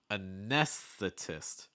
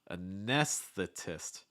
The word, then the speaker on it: anesthetist: not gonna lie um so first of all getting from that s to that th is not easy it's like a nes nest and then this firstly make sure you get that just that part down first make sure that the s part is clear a nes a ness